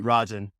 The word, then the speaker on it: Rajan: First of all, I should have confirmed that I pronounced your name correctly before we started rolling. That It's is it's Vineet Rajan.